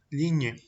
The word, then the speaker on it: ligne: Et pour finir, on a la combinación GN que se pronuncia como ñi, par exemple, ligne.